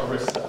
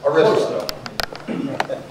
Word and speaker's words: Arista: So without any further ado, I'd like to bring up our friends from Arista. Is that the right way to pronounce it? Arista. Arista.